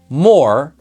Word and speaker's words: more: Two sounds, or, more, with a silent letter at the very end. More. Our word more is broken into two sounds, right? Is the letter M, or is O-R. And again, just a reminder, I said that there's a silent letter. That silent letter is the letter E.